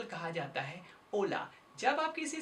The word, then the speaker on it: hola: ओला word की spelling होती है HOLA, जबकि यहाँ पर H का प्रयोग नहीं किया जाता, इसे केवल कहा जाता है ओला।